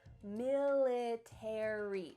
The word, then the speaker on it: military: book about the military in american english you're going to pronounce each of the final letters a r y military in british english